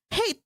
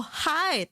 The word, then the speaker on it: height: Like, and my friend was like, hate, who hate? And then I was like, no, it's like, you're how tall you are. Oh, height. Oh, I was like, oh, it's pronounced as height.